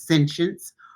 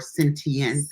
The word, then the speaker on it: sentience: So the first one is sentience. That's the UK pronunciation, or sentience, if you want to pronounce it in the American thing.